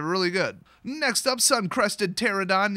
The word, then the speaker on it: Pterodon: Next up, Sun-Crested Pterodon. Yes, that is how you pronounce it. Do not say Pterodon, you'll sound like a Psycho.